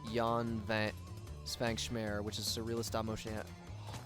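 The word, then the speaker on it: Jan Švankmajer: His name is mispronounced. is pronounced Jan Van Svankschmer, which is surrealist stop motion.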